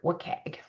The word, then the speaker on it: WCAG: web content accessibility guidelines, WC A or we pronounce it wagg.